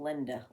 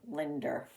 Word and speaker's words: Linda: that I D E A RS it's like pronouncing the female name Linda Linder sometimes Linder comes out of people's mouths maybe some people